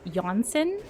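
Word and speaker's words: Jonsson: Um, and it would technically be pronounced Jansen, so the J is like a Y.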